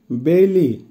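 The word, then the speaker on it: белый: বেলি, বেলির অর্থ হবে সাদা কালার, উচ্চারণ হবে বেলি, বেলি।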